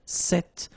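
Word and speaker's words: cette: So it's quite interesting because if you listen carefully the masculine form here set and the feminine form here set you write them differently but then you pronounce them the same way.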